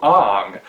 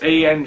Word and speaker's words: Aang: last airbender where he'd randomly decided to change aang's name to ong apparently people in hollywood don't know how to pronounce ang these days except for with an ah sound at the beginning but what can you